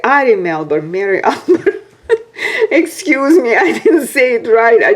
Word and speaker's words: Ari Melber: Mary Albert, how did I say? Ari Melber, Mary Albert.